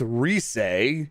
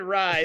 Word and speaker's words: Rise: you face going my rise pronounced reese jeff yes thank you guys he's totally seriously said rise yeah i know and